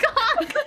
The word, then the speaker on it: conch: Yeah, isn't a conch also a shell you find on the beach? No, a conch. It's the CH, if you pronounce ch, with the word conch.